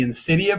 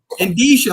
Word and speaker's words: Indicia: The Insidia page. Indicia. Look I still can't remember it. Indicia. I got to spell it out.